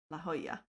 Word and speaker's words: La Jolla: Okay, what Cammy said, La Jolla? La Jolla. Usually I'm pretty good with Spanish pronunciation names.